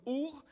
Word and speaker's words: Ur: La ville d'origine de sa famille s'appelait Our. On écrit Ur, mais ça se prononce Ou en hébreu, ou Our.